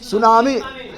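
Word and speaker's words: tsunami: सुनामी।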